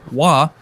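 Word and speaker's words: 华: The etymology of the first character is derived from this character, pronounced Hua, which means what when translated to English?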